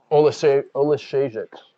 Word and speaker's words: Oleksiejczuk: Oleksiejczuk is the pronunciation.